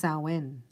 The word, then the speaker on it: Samhain: but to White magicians it is Sam Hein pronounced sauwen the time when the